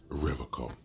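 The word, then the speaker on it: Revachol: He pronounces Revocol with a hard K.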